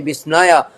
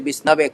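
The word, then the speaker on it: Viṣṇave: Although a murkha say Visnaya, and Visnaya very wrongly pronounce the Lord, and the those who are intelligent they say Visnave correctly, but Lord is bhavagrahi janardana.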